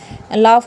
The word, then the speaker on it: laugh: तो ये भी आपको थोड़ा सा ध्यान रखना पड़ेगा, या तो आप उसको साइलेंट कर दो या फिर फे की साउंड आएगी इसमें, ठीक है।